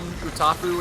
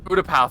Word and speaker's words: Utapau: I don't think he died on Utapu in episode 3. Utapu. Utapau. I don't know how that... Utapau, thank you.